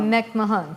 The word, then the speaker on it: McMahon: So, my good friend Marie McMahon or how do they say it in Ireland now? Mechahan. Mechahan. Right. But McMahon I went to Ireland recently and we found out that that's how it's said there. Right.